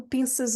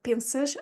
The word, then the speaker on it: pensas: is to remember to pronounce that S in the middle or at the end of pensas as a Z, because you have a vowel following it. So it's a an S between two vowels.